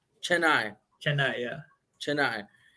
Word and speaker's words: Chennai: Chennai. Chennai.